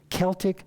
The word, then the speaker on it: Celtic: c-e-l-t-i-c celtic sea salt if you're from nova scotia you know how to pronounce that when you see c-e-l-t-i-c celtic not celtic like some people pronounce it on the west coast it's celtic sea salt and you stir